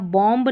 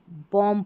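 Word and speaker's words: bomb: और यहाँ बॉम्ब नहीं, बॉम्ब पढ़ेंगे।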